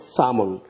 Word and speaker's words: sermon: British উচ্চারণ হচ্ছে সামন। আমরা আমেরিকা হচ্ছে এদিকে সারমন বলতে পারি, কিন্তু ব্রিটিশ হচ্ছে সামন।